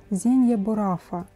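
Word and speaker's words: Zegna Baruffa: И правильно произносить на оригинальном языке Зенья Бурафа.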